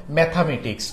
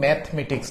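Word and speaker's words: Mathematics: আসলে এটা সিঙ্গুলার যেমন ম্যাথমেটিক্স উচ্চারণ কিন্তু ম্যাথমেটিক্স না ম্যাথামেটিক্স গণিত যেমন লাস্টে দেখো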